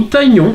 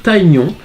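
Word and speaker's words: Tygnon: Alors j'ai un ami qui m'a dit qu'on devait dire Taignon, moi j'avais toujours dit Tignon. Bah écoutez, Taignon ou Tignon, vous dites un petit peu dans les commentaires ce que comment vous le prononcez. Et voilà, donc... moi je dis Tignon, voilà.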